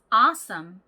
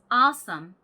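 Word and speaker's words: awesome: 라는 의미를 가진 문장입니다 아까 전에 어서 썸 은 어디에 강세가 있다고 말씀드렸죠 앞에 강세가 있다고 말씀드렸죠 자 한번 가볼까요 딴 아썸 딱 아썸 강사를 빡 찍어주세요 딸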